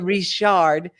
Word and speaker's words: Richard: And it is spelled Lisa Richard for those people who don't speak Louisiana or Nova Scotia French. Right. But it's a Richard.